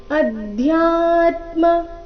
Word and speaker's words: ಅಧ್ಯಾತ್ಮ: ರೀತಿ ಮೊದಲನೇ ಚರಣ ಮತ್ತೊಮ್ಮೆ ಅಧ್ಯಾತ್ಮ ಇಲ್ಲಿ ಧ್ಯಾ ದ ಅಧಿಕ ಯ ಸಂಯುಕ್ತಕ್ಷರ ಅಧ್ಯ ಬೇಡ ಅಧ್ಯ ಮಹಾಪ್ರಾಣ ಸ್ಪಷ್ಟವಾಗಿ ಬರಬೇಕು ಅಧ್ಯಾತ್ಮ ಜ್ಞಾನ ನಿತ್ಯತ್ವನ್ ತತ್ವಜ್ಞಾನಾರ್ಥ ದರ್ಶನಂ